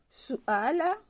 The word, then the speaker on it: suala: Suala, puisqu'on a dit que U se prononce OU, donc sou, le A se prononce A, suala.